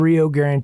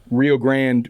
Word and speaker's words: Rio Grand: And I guess one thing we didn't mention, Rio Grande without the E. We used to go by Rio Grande Trio, and it was spelled like the river, but Yeah. everyone introduced us as the Rio Grande Trio, and we're like,